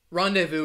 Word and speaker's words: rendezvous: takayo angela great job rendezvous is the word with the silent letter i think before i did a lesson on advanced words with silent letters this was one of them and i chose this word because it has a silent z you don't really find